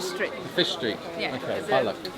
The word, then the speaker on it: Balık: Balık. Balık. Bollock, not bollock. Not bollocks. Okay.